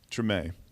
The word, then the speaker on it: Treme: And he was a writer and executive producer on the HBO series pronounced, is it Treme or Treme? Treme.